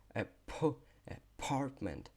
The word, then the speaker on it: apartment: Apartment. Apartment. Apartment. Apartment. Часто цю літеру Т глотають. Apartment. Apartment. Ну, так не глотають, да, а її трохи тише говорять.